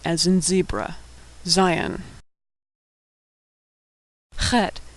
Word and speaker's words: Chet: Chet is pronounced ch, a throat-clearing noise that doesn't occur in English. It's like in ach in German, or loch in Scottish.